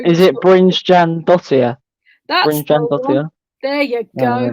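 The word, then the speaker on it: Brynjarsdóttir: I forgot how to pronounce her second name. Oh dear, yeah, we're so... Is it Brynjan Dottir? That's Brynjan Dottir.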